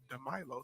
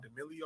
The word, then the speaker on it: DeMilo: His name is DeMilo, spelled how it sounds. It really is. DeMilo. And be called D'Amelio, all types of stuff.